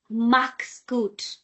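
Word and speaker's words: Mach's gut: Max good. First you say click c from your throat.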